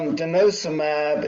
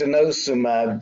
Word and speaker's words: denosumab: Well, but Bill, the denosumab is actually not a bisphosphonate.